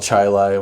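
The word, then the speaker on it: Chili: Gates and a city called Chilai which is spelled Chile but they just you know kind of like how we say hurricane here they would say ch and they had a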